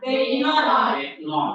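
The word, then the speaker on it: βῆμα: Berarti B ya kan? Ini eta. Berarti E panjang ya kan? Terus M. Terus A. Ya, namanya Bema. Oke, sekarang ini baca ini.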